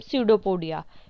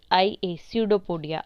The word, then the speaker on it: pseudopodia: ये आपको स्पेलिंग दिख रही है SPS, इसमें P साइलेंट है तो इसे पढ़ते हैं हम सीडोपोडिया, PSEUDOPODIA, सीडोपोडिया, इसमें P साइलेंट है।